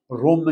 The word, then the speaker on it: روم: میں بتا چکا ہوں عربی میں جو تلفظ ہے، پروننسیشن ہے، وہ ہے روم. روم نہیں ہے، روم ہے.